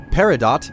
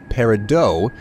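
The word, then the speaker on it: peridot: to be clear here paradot American pronunciation parido French pronunciation I believe so um you know take it for what it is uh both ways of saying it are acceptable let's pick up the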